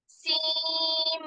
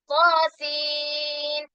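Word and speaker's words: طس: ത്വാസീൻ. ത്വാഇനെ 2 ഹർക്കത്ത് നീട്ടുക. സീനിന് 6 ഹർക്കത്ത് നീട്ടുക. അതുപോലെ ത്വാസീൻ എന്ന് വേണം. ലാസ്റ്റ് സീൻ എന്നാണ്. സീം എന്ന് പറയല്ല. ത്വാസീം മീം പറയുന്നത് പോലെ സീനിന്റെ അവസാനം മീമിന്റെ ഉച്ചാരണം വരരുത്. ത്വാസീൻ എന്നാണ്.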